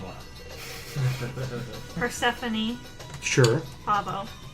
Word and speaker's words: Persephone: Persephone Sure. Pavo. Persephone, spelled the traditional way, I assume.